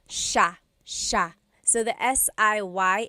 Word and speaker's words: siya: It looks like it should be pronounced siya, siya, but it's actually pronounced sha, sha.